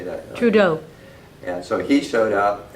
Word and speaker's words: Trudeau: Trudeau.